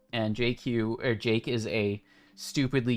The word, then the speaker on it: jq: Jason or apt get install Vim vim and Jake Jake is how you pronounce Jake q and JQ or Jake is a stupidly useful tool for